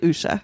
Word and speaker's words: Usha: how it's pronounced and it's actually Usha Usha Usha Usha so that was